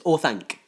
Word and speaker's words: Orthanc: That's not how you say it. It's Orthanc.